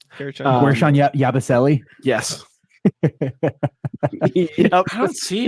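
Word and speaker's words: Guerschon Yabusele: I hope I pronounce this correctly because I don't know if I am or not. Guershon Yabusele.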